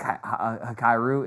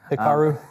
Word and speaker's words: Hikaru: Um, I think Hyru is another example. I probably said his name wrong. I'm sorry, bud. Hikaru.